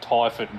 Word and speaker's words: Typhon: I feel like I should mention I'm pretty sure he prefers it as Typhon, so I feel like I'm pretty sure that's how it's actually pronounced.